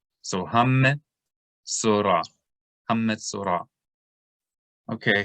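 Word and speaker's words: מצורע: So anytime you see a shava in the middle of a word and the letter on top of it has a dagesh, a dot, then you can know that shava should be vocalized, even though it's in the middle of the word.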